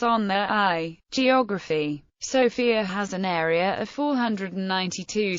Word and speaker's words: Sofia: abandoned through the years the city's name is pronounced by bulgarians with a stress on their o in contrast with the